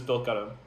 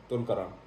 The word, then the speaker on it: Tulkarem: Khan Yunis versus Tulkarem. Tulkarem.